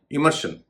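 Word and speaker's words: immersion: जैसे कन्वर्जन कन्वर्शन भी होता है, कन्वर्जन भी होता है। इमर्शन इमर्शन भी होता है, इमर्जन भी होता है। वर्जन वर्जन भी कहते हैं। शन और जन आप जो चाहे उच्चारण कर सकते हैं।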